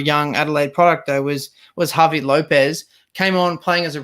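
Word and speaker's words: Javi López: Was Javi Lopez. Came on playing as a right back, or as Speedy called him, Harvey Lopez.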